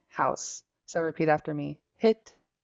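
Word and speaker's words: hít: questions so far next one uh this word hit is house so repeat after me hit H H it and then the same word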